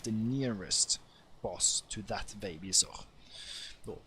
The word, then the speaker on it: Vegvisir: Thank me for being Norwegian, so I can suddenly change how I pronounce the words to be, you know, how I would say it in my own language, even though this is more, you know, the Norse one, so even what I say is slightly wrong.